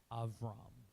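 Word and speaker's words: אברם: name here is aam it's a v sound it's not a b sound it's a v sound so if you want to be that person you're welcome to be it's technically avam you know you will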